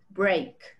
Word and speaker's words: break: Es que está como trabada mi compu, pero en el caso de break, tenemos aquí la E y la A, ¿no? Que justo es una forma de pronunciarla, también es con estos simbolitos de la E y la I, ¿no?